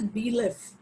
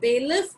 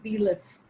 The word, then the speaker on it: bailiff: It is pronounced as bailiff. Not bailiff, but bailiff.